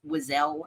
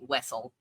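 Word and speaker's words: Wesell: Our good friend Devore from A Large View of the Force pronounced it as Wazelle, and we've gotten every single person minus one, I believe, to come on this pod and say Wessel.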